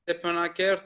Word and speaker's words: Stepanakert: I certainly hope that's the case too, because we were supposed to go to, was it Stepanakert? How do you pronounce that? Yeah, the Stepanakert is the capital of the Nagorno-Karabakh.